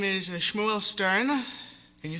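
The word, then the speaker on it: Shmuel: sorry sure sorry I forgot my name is Shmo Stern can you spell that please s hm u e l Stern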